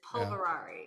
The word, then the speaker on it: Polverari: p viari people love it when I'm I'm pronouncing names but it's p o l v r a r i right yes is polverari yes we're not gonna say your last name